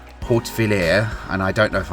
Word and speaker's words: Hautvillers: and we are near to a village called Hautvillers, and I don't know if I'm saying that right, and I'm sorry, but I think it's pronounced Hautvillers.